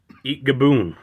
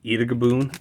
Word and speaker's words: Eatgaboon: We got Liquid Beast and Eat Gaboon. I always remember as a kid, I always thought there was an additional A in that and would always pronounce it as Eatagaboon instead of Eatgaboon.